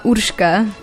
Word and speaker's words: Urka: say your name uh Urka it has like this hard Slavic R yeah that's a very